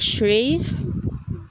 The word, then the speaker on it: Shri: with Siri yes how how do I even pronounce it like Shri yeah yeah that's correct way to pronounce it oh should I what's